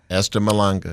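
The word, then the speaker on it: Esther Mahlangu: I want to make sure I'm pronouncing Dr. Malanga. Am I saying? Esther Malanga.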